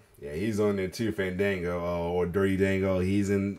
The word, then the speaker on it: Fandango: Santino was at his funniest when badly pronouncing wrestlers' names. Yo. Fandingo. Fandingo. Oh my god. Like he did. Crazy. Yeah, he's on there too, Fandango, or Dirty Dango.